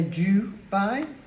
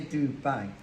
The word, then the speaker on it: Dubai: it's called Dubai now some people say du by I say Do by it's actually uh in